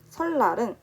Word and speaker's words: 설날: 첫 번째 예시는 설날입니다. 설날은 설날이지만 발음이 실제적으로는 리을로 발음이 나고 있어요.